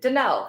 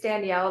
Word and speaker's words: Denell: does my name mean denell everybody misspells it they think it's Danielle they mispronounce it I Googled theel and